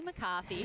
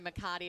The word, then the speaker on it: McCarthy: And Minna, I mentioned actually during the 17 and under broadcast, Holly McCarthy, who I unfortunately got her name wrong. I was calling her McCarty.